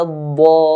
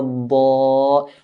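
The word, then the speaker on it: الضالين: We should not vibrate or shake the mad, because doing this is producing multiple letters. We only want one letter and stretch that one letter. So we do it in a straight line.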